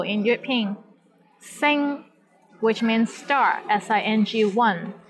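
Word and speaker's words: 星: a syllable in european sen which means star sing one here the initial sound is s and final sound is in ing and the syllable is in the first tone the tones in european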